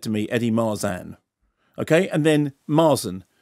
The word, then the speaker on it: Marsan: Lee was right but we were told officially by your people that it's Mars and like Tarzan now it's my sand as the Bioman says Mars and because the will the East Enders can't say Mars on but it's Marsan and what do you say I say I say marsan unless I get angry then and then I turn east and then I say Mars and so they're both ok yeah they're fine and